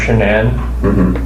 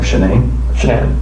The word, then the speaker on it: Shanann: Amanda, anybody that lives here that knows Shanann, they pretty much have the same contact list.